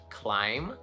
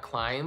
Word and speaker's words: climb: Well, the B is silent in words like climb, right? It's not climb, but you already know that.